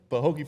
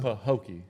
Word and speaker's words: Pahokee: Pahokee, is that how I pronounce it? Pahokee? Yeah. Pahokee, Florida. Yep. Man, before we got on here, Say it again, killer. Pahokee.